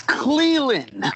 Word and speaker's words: Clelin: I can't figure out how to pronounce it. Cleland? It's Cleland.